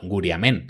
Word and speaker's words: Guriame: majorera y estás escuchando guriame, de repente tú dices, "No, guriamen será o guriamen." Que yo lo he escuchado pronunciado de las dos maneras. En los archivos, en este archivo lo ponen sin n.